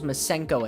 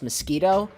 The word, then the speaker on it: Masenko: I do remember that no one could pronounce Gohan's and Piccolo's masenko attack one of my friends confidently told me that it was pronounced mosquito and that kind of